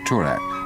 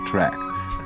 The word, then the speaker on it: Toorak: Oh, and another thing, it's frightfully non-you to call it Toorak. The correct pronunciation is track.